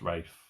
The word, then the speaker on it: Ralph: Lopez and Rafe finds it's spelt Ralph but it's pronounced Rafe I've tripped up on